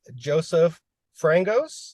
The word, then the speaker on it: Joesph Frangos: I'm here with Joesph Frangos.